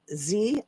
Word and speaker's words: Xi: Um the thumbnail has China uh President Z, I think is how you say it. It's like XI, but I think it's President Z.